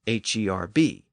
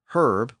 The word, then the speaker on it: herb: Sometimes both pronunciations survived, like HERB. In Britain, herb with the H one out, but in America, herb without the H one out.